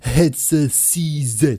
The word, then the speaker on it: HetzerCZ: And the one lucky guy we're going to talk about today is the one and only headset CZ. That sounds very weird, but that's how it should be pronounced if you're talking in English.